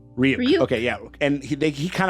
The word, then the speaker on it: Ryuk: And like basically kind of the big thing is that we had Light met I'm pronouncing Ryuk. Ryuk.